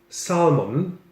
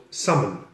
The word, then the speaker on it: salmon: And this delicious fish is not called salmon, the L is silent, it's called salmon.